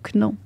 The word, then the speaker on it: know: T'as même pas besoin de prononcer le K. Il est Mais juste pourquoi là ils pour mettent faire... un code barre? Juste pour faire beau. Ben oui, mais c'est... Parce que si c'était... Ça s'écrit K-N-O-W. Ça Ouais. fait no. Mais s'il n'y avait pas de K, ça ferait now. Ben non, mais no, you never know, N-O. Comme en français.